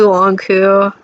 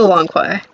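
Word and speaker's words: Lanque: cast drama it's definitely lanku uh i've been pronouncing it wrong this whole time i'm sorry it's spelled q-u-e it's totally long koi the fact that you've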